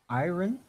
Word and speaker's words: iron: Well, we don't pronounce the R.